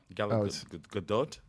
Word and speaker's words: Gadot: yeah gag gal G I think you actually pronounced the T it's not fren G Gadot Gat it's there's no silent teas in Hebrew